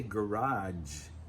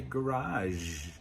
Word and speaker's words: garage: I say garage with a J sound, but some people say garage.